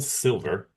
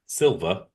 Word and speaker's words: Silva: Bond's investigation leads him to Raul Silver. Silva. I'm mispronouncing the out of that.